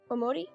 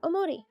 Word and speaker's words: Omori: omori oh yeah uh i guess i'm saying it with kind of an american accent though so it's like omori yeah omori i was a kid